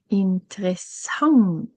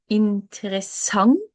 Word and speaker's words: interessant: And then de leser en interessant. They read an interesting book. Okay. I will say it in Norwegian. De leser en interessant. Interessant bok. De leser en interessant bok.